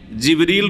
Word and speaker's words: জিবরীল: জিব্রাইল আলাইহিস সালামের নাম কোরআনে কারীমে জিবরীল রয়েছে যেটা অন্য উচ্চারণে জিব্রাইল অন্য কেরাতে জিব্রাইলও জিবরীল জিব্রাইল আর রুহ আর রুহর রুহ